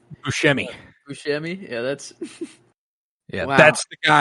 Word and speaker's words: Buscemi: Buscemi.